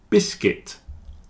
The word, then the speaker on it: biscuit: business women business women biscuit circuit and build have a silent U you see the U